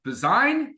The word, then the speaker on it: Bazine: So, I just got a chance to interview her and Nicole Bazine. Bazine design like design is how you say her last name.